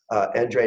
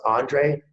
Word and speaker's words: Endre: And I couldn't be more happy to introduce Endre Nagy, and it's pronounced Andre if you're in the US, Endre if you're in Europe.